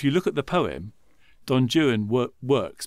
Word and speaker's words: Don Juan: look at the poem Don Jan work works because it rhymes with stuff other stuff in the poem whereas Don Juan doesn't